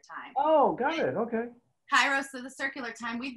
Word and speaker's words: Kairos: Once said, you do it right, but you say it wrong. Because we were she's saying Greek. Kairos. She says it's Keros.